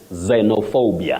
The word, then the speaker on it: xenophobia: from me this word um xenophobia or how else do we pronounce that one zenor how do we that is the pronunciation you just say Zeno xenophobia not xenophobia you say xenophobia that you see I talked about vowels taking different sounds also consant letters